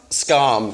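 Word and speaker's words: Skam: it the scandi drama as a how's it pronounced scarm thank you I don't know if you guys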